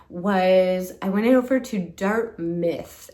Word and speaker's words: Dartmouth: I went over to Dart Myth. It's called Dart Myth. It's spelled Dartmouth.